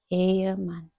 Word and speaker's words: Ehemann: Ehemann. Bacanya Y, jadi Ehemann.